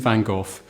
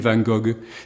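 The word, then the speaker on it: Van Gogh: of that is Vincent vanoff how you pronounce his name depends on where you come from the French for example would call him vangog the Americans vano and in England we've settled for vanov but he was Dutch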